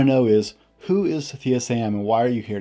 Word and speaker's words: Sathiya: today my special guest is Sathiya Sam of Unleash the Man Within podcast.